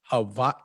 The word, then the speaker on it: Hawaii: I've been here long enough that I pronounce it correctly at this point. Hawaii.